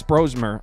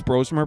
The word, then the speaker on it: Brosmer: week with Minnesota Max brosmer I guess it's brosmer by the way I've been saying brosmer but the announcers in that game were saying brosmer so I apologize I guess I've been saying his name wrong Max brosmer this is